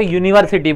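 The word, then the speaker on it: university: हो क्या बोलते हो यूनिवर्सिटी बोलते हो इसीलिए यहां यूनिवर्सिटी योग का साउंड आएगा और यह का साउंड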